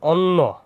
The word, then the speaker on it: অন্য: হবে এরপর দুই নাম্বার যদি অ থাকে এর পরে যদি কি জফালা থাকে জফালা মানে কি এইযে জফালা যদি থাকে তাহলে এ উচ্চারণ হবে কি উ যেমন অন্য এটা অ ছিল এরটা হয়ে গেছে কি উ তাহলে অন্য ওইরকম বন